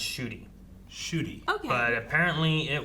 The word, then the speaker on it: Ncuti: The new Doctor's name, Ncuti, is pronounced Shooty. Okay. NCU what? Ncuti. It's pronounced Ncuti.